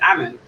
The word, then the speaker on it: Ammon: might always pronounce here i always say armin but it's ammon i just realized yeah